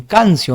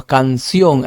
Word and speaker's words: canción: Canción. Cancio, no, canción.